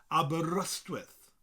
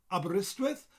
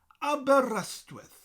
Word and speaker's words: Aberystwyth: in english but in welsh i would say abba rust with but there's debates about this people further up midwest often say abreast with well well it's down here in south wales